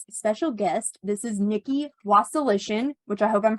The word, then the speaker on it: Wasilishin: have a very special guest this is Nikki was solution which I hope I'm pronouncing that right you nailed it girl okay